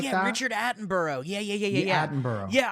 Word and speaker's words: Attenborough: of those british nature show what's his name attleboro or something like that richard attenborough yeah yeah yeah yeah yeah i watched it